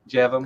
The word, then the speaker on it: Jevon: How do we pronounce it? Is it Jevon? Jevon. Correct. Jevon.